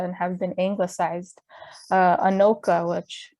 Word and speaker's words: Anoka: were originally dakota and have been anglicized uh anoka which anuka which means on both sides uh cha chaska